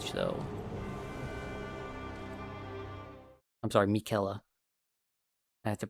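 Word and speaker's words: Miquella: Mikuela. I have to pronounce it properly for all the people out there who who know.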